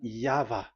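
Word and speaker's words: Yahweh: explanation but that is the phonms the pronunciation pronunciation is equal V. It is V Y H V. So it is Yava.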